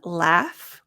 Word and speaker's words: laugh: okay and this one laugh the GH sounds like an F laugh good so laugh